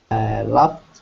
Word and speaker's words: laughed: Laughed with the first column. Yes, another one with T.